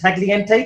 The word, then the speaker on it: Tagliente: Is it the G is silent? Tagliente?